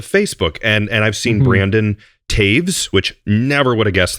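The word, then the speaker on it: Toews: And I've seen Brandon Taves, which never would have guessed that's how you pronounce his last name until you told me.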